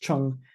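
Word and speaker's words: 虫: and one without, and they both are pronounced chung, and they both mean bug or insect.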